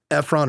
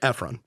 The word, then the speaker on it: Ephron: Norah Efron, I think we'll go with Efron or Ephron. It'll go Ephron.